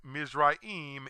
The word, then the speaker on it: Mizraim: of Ham's second born son whose name is pronounced misraim in Hebrew but Egypt in English this is